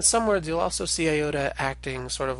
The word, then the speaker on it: iota: be long or short we pronounced a long yoda we tend to pronounce it like that long e sound as in pizza and a short iota we tend to pronounce as a short hi in English as in Pitt now in some words